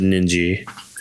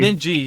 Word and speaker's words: Ninji: watch uh Peach be up a bunch of ninja. I said it right this time. Yay. Ninji.